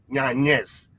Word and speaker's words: Yanez: name is ola and we have here adrian yanis i think i pronounced it right adrian yes mr knockout himself